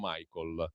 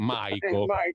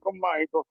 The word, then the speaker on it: Maico: altrove, comunque Maico, no, senza la L però, no Michael, appunto. Maico, Maico.